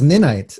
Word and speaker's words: Ninite: a business I'm going yeah nice and it's pronounced midnight and that's that's how you pronounce at night